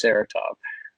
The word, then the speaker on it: Saratov: Yeah, so it's about two missionaries it's a true story about two missionaries that got kidnapped in Saratov, Russia, or as we say in English, Saratov. That's our pronunciation.